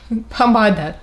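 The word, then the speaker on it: помада: The word for lipstick is pomada. Very short and easy actually. So Cyrillic is going to be here and the pronunciation below.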